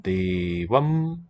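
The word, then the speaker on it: देव: of course reflects Kimtam, Devam, Devau, Devan is correct. What's the instrumental? By the way, Vrka was in Vedic accented on the first syllable, but Deva would have been accented on the second.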